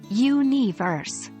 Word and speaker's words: universe: It's stressed on the first syllable, universe.